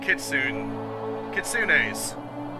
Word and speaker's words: kitsune: You know, like kitsunes. I think that's how you pronounce them. I think you're actually supposed to pronounce the E. Don't know though.